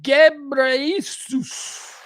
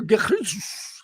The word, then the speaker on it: Ghebreyesus: All right, I don't know what name that is, but Tedros Adhanom Ghebreyesus. I'm going to pronounce it like that. All right, so we'll call him Dr. Ghebreyesus.